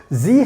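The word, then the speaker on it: sie: talk about the last one so we have zee haben zee haben so zee haben talent zee haben talent that means they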